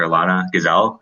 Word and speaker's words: Elana Gazal: first speaker is dr alana gazelle likes pronouncing that right yes you do thank you okay yeah